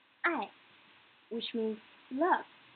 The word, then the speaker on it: 爱: Next, 爱, 爱, which means love. I doesn't have initial. It only has final. I, and the tone is the fourth tone.